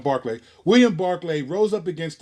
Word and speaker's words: Berkeley: killing Native Americans and William Barclay is pronounced it looks like Burpee but it's put on Barclay William Barclay rose up